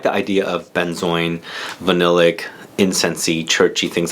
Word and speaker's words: benzoin: been joined orange 119 so I've heard benzoin pronounce benzo and been chuan or been join so this has been